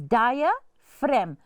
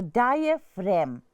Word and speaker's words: diaphragm: which is called a diaphragm. Please know the spelling. It mustn't be diagram. It's diaphragm. So this ph is pronounced as an f and then r a g m ram. So diaphragm.